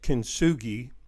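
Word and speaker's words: 金継ぎ: Kintsugi, or another pronunciation you may have heard is Kintsugi, is a Japanese term,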